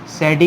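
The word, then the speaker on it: Sadi: लेकिन अब एक साइंटिस्ट हैं जिनका नाम है आपके पास सैडी कार्नोट, इनको सादी कार्नोट भी बोलते हैं, लेकिन आपको नाम से नहीं, मतलब आपको नाम देखना है, सही है, आपको प्रोनाउंसिएशन थोड़ी देखनी है।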